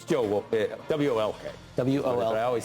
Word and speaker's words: Wolk: No, it's Joe Wolk, W-O-L-K. W-O-L. I always say that. I know you do. Because it's pronounced woke.